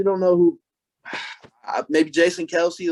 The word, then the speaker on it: Kelce: By the way, we're all saying his name wrong. It's Kels. It's Kels. Kels. I just that was like a big thing. He was on a podcast. He's like, my last name's pronounced Kels, but everybody's called me Kelsey my whole life, so I just roll with it. So it's Travis Kelce, not Kelsey? I guess so.